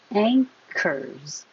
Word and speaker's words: anchors: Anchors. This doesn't look like there's an NG, but your tongue is going to the back high.